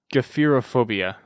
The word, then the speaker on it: gephyrophobia: And I believe it's actually pronounced Gephirophobia. Sounds hard to pronounce. Yeah, Gephyrophobia.